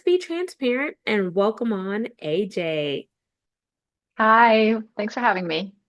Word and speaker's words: Ece: playing rapid fire with ajn Genesis question Numero Uno so with your name it looks like for those who may see it on the screen but it's actually pronounced AJ what is one thing